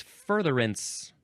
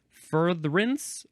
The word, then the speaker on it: furtherance: Next is furtherance. You can say 2 syllables or 3. Furtherance, furtherance.